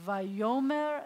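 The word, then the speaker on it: ויאמר: our pronunciation significantly so it says y yo mare and you see how the accent is on the yo y yo mare Elohim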